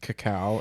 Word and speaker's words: cacao: She's like, "It's pronounced cacao," and I was Yeah.